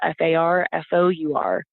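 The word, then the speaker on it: Farfour: is fly fishing farfor so far for is my last name it's spelled like far away in the number for f a r f o Ur that's fly fishing far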